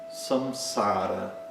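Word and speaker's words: संसार: Por exemplo, samsara. Samsara. Na primeira sílaba que tem esse som s, né? Poderia ser um n, poderia ser um m, né?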